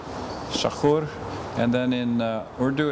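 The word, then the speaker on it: تشکر: In Dari, it's tashakur. Shakur.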